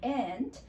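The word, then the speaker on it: 一: And with the R sound in the end, which means we need to twist our tongue a little bit in the end.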